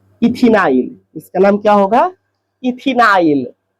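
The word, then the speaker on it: ethenyl: इथिनाइल last का आईल उच्चारण करना है।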